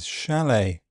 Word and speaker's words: chalet: In words ending STEN, fasten, hasten, listen, and in some imported French words such as ballet and chalet.